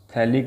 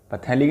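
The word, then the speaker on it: phthalic: ये मेरे पास में है थैलिक एसिड, पैथेलिक नहीं है, साइलेंट है ये, ठीक है।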